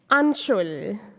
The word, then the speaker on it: Anshul: not sanj or san the other is anshul u n an and shul shul to the rhyme of bull now she will take